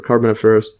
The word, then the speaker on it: Carboniferous: here search or yes car carbon forus or Carboniferous Carboniferous yes so Carboniferous yes so Carboniferous period and to continue further